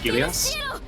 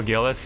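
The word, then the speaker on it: Gilles: How do you pronounce his name? Gilias? Oh, Gillis, yeah.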